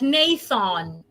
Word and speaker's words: Nathan: But, we have some names where the H is not silent, like Matthew, like uh I'm trying to think of other names. Can you think of any name with th? Like Nathan, e.t.c.